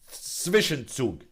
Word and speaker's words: Zwischenzug: Zwischenzug.